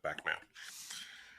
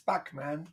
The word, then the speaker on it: Bachman: i really enjoy that you pronounce bachmann batman how do you say back back yeah it's back it's back man come on